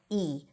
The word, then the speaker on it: he: Well, when it's unstressed or in the middle of the sentence, which is usually the case, we drop the H and we just pronounce it as E.